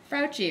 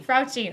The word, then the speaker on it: Frautschi: Frautschi. It rhymes with grouchy. Frautschi.